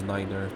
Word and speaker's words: niner: in this game you have to pronounce night as Niner I don't think that's